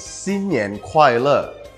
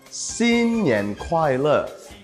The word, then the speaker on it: 新年快乐: The one other one is xin nian kuai le. One more time, xin nian kuai le.